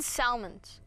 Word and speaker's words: Salmons: salmon snow and salmon Salmons no it's pronounced salmon are you correcting me